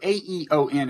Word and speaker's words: Aeon: a piece you recently wrote for is it aeon magazine yes so Aton is pronounced the same way as eowyn and they